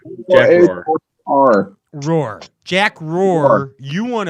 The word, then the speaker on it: Roar: Are you saying Roar? I think that's right. Spell it. R-O-A-R-O. It's Roar. Jack Roar.